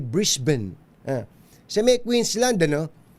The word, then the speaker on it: Brisbane: Sa amin sa Australia sa sa Brisbane alam niyo po yung bris hindi pala Brisbane yan. Ang bigkas pala diyan na ul ay Brisbane ah sa may Queensland.